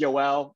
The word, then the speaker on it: Joel: My name is Yoel. It's spelled Joel, but pronounced Yoel.